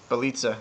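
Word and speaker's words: Bjelica: Bielitsa.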